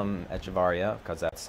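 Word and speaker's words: Hechavarría: just we had all been calling him Adeiny Echeverria, and then and then there was a little blip where it was like, oh, actually it's Adeiny Echevarria, so everybody was like, okay, well, we'll call him Echevarria because that's how you're supposed to pronounce his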